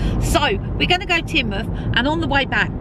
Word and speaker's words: Teignmouth: the right pronunciation for this place cuz it's spelled like th mouth it's not it's tinmouth grand old houses here we have been here